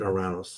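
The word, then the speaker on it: Uranus: So, then the next planet is Oranis. The Greeks pronounce it Oranos.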